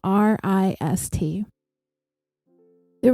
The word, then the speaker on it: Rist: to tell you about the wrist family that's spelled r i s the rist family moved from Manhattan to